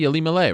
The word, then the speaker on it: Ilima-Lei: By the way, should I say Ilima-Lei or should I say Ilima? What's the proper way to say your first name? I feel like a bit of a jackass asking you this, but it should be Ilima-Lei, right? Yeah, I mean, okay.